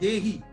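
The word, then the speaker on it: he'e: और उसके साथ ये हेई, हेई, इसको ऑक्टोपस को बोला गया हेई, HEE है, हेई, इसकी प्रोनाउंसिएशन क्या होगी एग्जैक्टली, तो हेई बोलते हैं।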